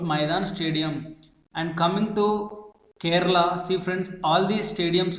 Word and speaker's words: Kerala: to remember the name Kerala? Let us see the trick. Friends, if you observe the first three letters of Kerala, K-E-R, its pronunciation is similar to care.